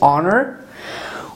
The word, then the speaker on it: honor: If we have after letter H we have O, at that time it is silent. O gives its own sound, like as I told you, our, honor, and honest.